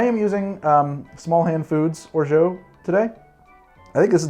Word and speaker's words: orgeat: Is it orgeat? Orgeat? Orgeat? Orgeat, French orgeat. I have had different people from different places in France tell me different answers. I think it's extremely regional.